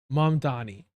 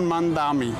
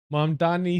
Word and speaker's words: Mamdani: I'm running against a man named Zoran Mandami.